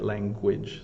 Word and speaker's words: language: tricky uh the the I think it's the GU um very English sound right language so language we all